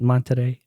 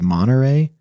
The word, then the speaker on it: Monterey: it with the accent monterey somebody told me there's no t they just said you pronounce the you don't pronounce the t so it's monterey maybe i'm trying to